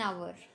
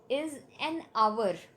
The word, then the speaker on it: hour: That is, first one is he had to wait there for an hour. Now, pronunciation of hour, Hour, is an hour.